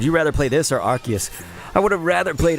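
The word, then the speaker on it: Arceus: And it is pronounced Archus. I know some people they go with the Arus, but it is Archus.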